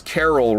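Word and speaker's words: Caryll: This is the third time I have ever gone for this Carol rune. And not Carol Baskin rune, just Carol rune spelled with a Y and two L's.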